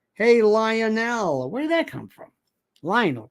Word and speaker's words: Lionel: Lionel rhymes with vinyl.